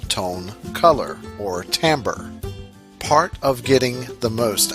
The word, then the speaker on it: timbre: same thing and that timbre is pronounced timbre it is interesting that